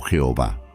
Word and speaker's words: Jehová: el nombre ih hw pronunciado como yahve o Jehová este nombre aparece por